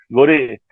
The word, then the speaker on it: gore: dice Reisenberg, Gore, le dice, ¿no? Gore, cierto. Pero yo lo digo en español, lo digo tal cual como se escribe, ¿no? Goré.